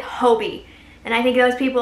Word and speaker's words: Hobbii: sound like an idiot the majority of people that I saw in that video pronounced it Hobie and I think those